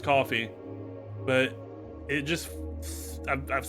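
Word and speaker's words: Ko-fi: I know that it's pronounced coffee, but it just I've said Kofi so much.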